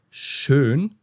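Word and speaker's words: schön: For example, shaun means already in German, but shun means beautiful. Okay, sh and shun. These are two different words.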